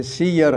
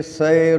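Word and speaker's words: سِيَر: ہے، اس لیے فرمایا بکسر السین و فتح الیاء، لفظ کا ضبط بتا دیا کہ سیر ہے، سیر علی لفظ الجمع لا بفتح السین و سکون الیاء علی لفظ المفرد، ایسا نہیں ہے، کما ینطق بہ بعض من لا معرفت لہ، ہاں بعض جو لوگوں کو معرفت نہیں ہے صیغوں کا، وہ کہتے ہیں یہ سیر الکبیر ہے، تو کہتے ہیں یہ غلط ہے، یہ تو لفظ کی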